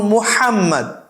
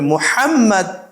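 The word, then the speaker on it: محمد: একটু কঠিন মনে করে যেমন মোহাম্মদ হা বলতে কারণ সে তিন-চার বছর যাবত সে মোহাম্মদ মোহাম্মদ তোমার নাম কি মোহাম্মদ আহমদ এভাবে বলে আসছে কিন্তু এখন যখন বলতেছে যে তোমাকে বলতে হবে মোহাম্মদ ইসমি আহমদ ইসমি মোহাম্মদ এই হা বলতে তার একটু কঠিন মনে হচ্ছে এবং সবচেয়ে বেশি কঠিন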